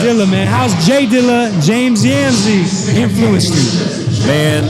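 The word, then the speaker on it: J Dilla: DJ well um we we got to say it right it's just Jay Diller oh am I saying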